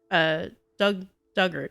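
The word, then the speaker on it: Dugort: Pronunciation dug like the past tense of dig, ort rhymes with hurt. Diggart. Duggart.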